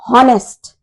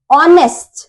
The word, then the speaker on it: honest: H is silent here, right?